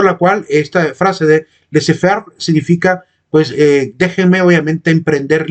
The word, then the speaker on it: laissez-faire: El egoísmo que se sostiene en este postulado francés que se debería pronunciar laissez-faire.